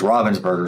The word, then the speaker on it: Ravensburger: My understanding is Robinsburg is the correct way to pronounce it, but I'm an American so I pronounce it Ravensburgger.